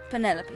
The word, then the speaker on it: Penelope: Officially, yes, but I never can be bothered with all 4 syllables of it. Penelope sounds a little ostentatious coming out of the mouth, don't you think?